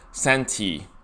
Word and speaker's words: 三体: And it's a quick look at the cover for Three Body Problem, or Santi, as in how it's pronounced in Mandarin.